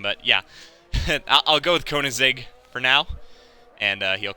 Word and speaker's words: Koenigsegg: It is Koenigsegg. I think that's how you say it. Koenigsegg? Sure. I'm trying to think of, like, the car brand, Koenigsegg.